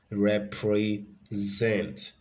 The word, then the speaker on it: represent: syllable and number four represent so on number four we have the primary stress on the third syllable represent the represent so the